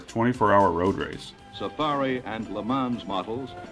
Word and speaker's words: Le Mans: road race safari and le mans models the s on the end should be silent and as some of